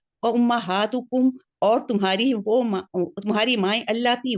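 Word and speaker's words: اللتي: बस एक चीज है, अल्लाती और अल्लती के प्रोनाउंसिएशन में फर्क रखिए, क्योंकि अल्लती भी एक लफ्ज है, अल्लाती भी एक लफ्ज है, अल्लाती जमा है, जी बस ये जी, फर्क है।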